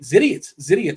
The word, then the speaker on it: Zidiot: It rhymes with idiot. Zidiot took down the contest, the week 3 of RG Premium.